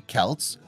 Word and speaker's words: Celts: Despite the Romans' belief, the Celts, pronounced with a hard C or K sound, were anything but barbarians.